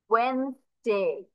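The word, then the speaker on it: Wednesday: ওয়েডনেসডেতেও same হবে, আমি একটু পাচ্ছি ওয়েডনেসডে, বা প্রোনাউন্সিয়েশন হবে ওয়েনসডে। কি হবে, ওয়েন স্টে। তাহলে আমরা কি কি এখান থেকে উচ্চারণ করবো না, এই যে এই ডি আমরা বাদ দিয়ে দিব, সরাসরি আমরা ডাব্লিউ ই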